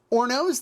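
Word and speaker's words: hornos: in stone brick ovens otherwise known as ornos the h is silent on that they use a roller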